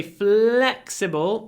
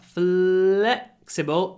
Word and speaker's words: flexible: for dancers flexible flexibility when we say flexible make sure you stretch the L flexible and then pronounce a very short e before the unvoiced C flexible flexibility uh